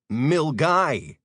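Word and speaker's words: Milngavie: M I L N G A V I E equals Milgy. Yeah, I know that looks like three syllables. And you're wondering why the N and the V are silent.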